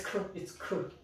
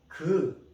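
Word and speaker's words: ㄱ: So some people say, oh, it's 크. It's not 크. This consonant pronounced as 그. Then why there is K? Why? Do you remember the last consonant, 받침? When this consonant goes to 받침, it pronounces K. So basically this is 그.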